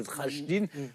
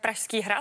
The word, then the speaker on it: Pražský hrad: a le château de Trajdin. Moi, je le prononce mal. Comment vous dites Pražský hrad. Pražský, voilà.